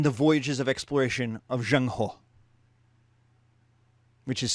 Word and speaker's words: Zheng He: this tension in the voyages of exploration of zhang ho which is spelled in english z-h-e-n-g and his last name